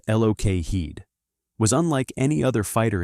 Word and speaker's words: Lockheed: The Lockheed P38. Lightning pronounced Lok Heed was unlike any other fighter in US service.